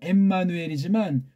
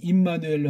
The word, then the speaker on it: 임마누엘: 신약으로 번역하면 이게 엠마누엘이지만 구약 발음으로 치면 임마누엘로 하는 게 정확한 번역이 될 겁니다. 엠마누엘로 할 수도 있지만 구약에 이미 있는 것이고 소리 나는 대로 직역을 한 거니까.